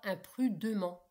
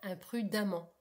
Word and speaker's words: imprudemment: On ne dit pas imprudement, on dit bien imprudemment.